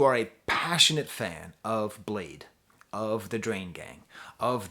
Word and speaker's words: Bladee: the album Spiderr by Bladee. I know, it's pronounced Blade, it's pronounced Spiderr. I'm a goofball.